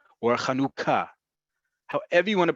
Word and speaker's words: Chanukah: What's most important is that the second vowel of this word, of this holiday, is u. It is not it is u.